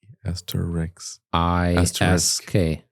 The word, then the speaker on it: asterisk: Asterisk. Sk. Not X. Not X. Okay. It's ASTRISK. TER. Asterisk. ISK.